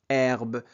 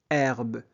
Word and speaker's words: herbe: Herbe. On ne prononce jamais la lettre H. Herbe.